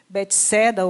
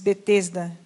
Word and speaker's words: Betesda: ovelhas um tanque chamado em hebraico betsaida o bets bets Betesda são duas duas pronúncias que tem cinco pórticos